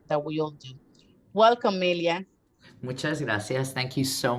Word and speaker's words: Melia: Melia for us at the cathedral, since we pronounce her name in Spanish.